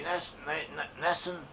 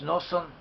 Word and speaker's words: Nosson: Zebulun, according to Rabbi Nassan, and incidentally, Nassan is also in the Ashkenazic Yiddish or Ashkenazic Hebrew, pronounced as Nosson.